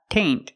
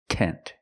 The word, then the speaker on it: tent: flower flower tent and remember it's not taint it's tent use the short s sound tent flower tent example